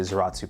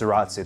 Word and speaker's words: Zaratsu: Yes, Zaratsu, the same polishing technique that Grand Seiko uses. And now a quick thing I learned, Zaratsu actually derived from the German word Salaz, phonetically pronounced as Zaratz in German.